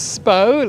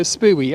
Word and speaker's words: Spui: how to say that it's SPO like imagine it's spelled SP p o w SPO almost like row so when you see it as uh SP UI you're not going to go spooey are you you're going to go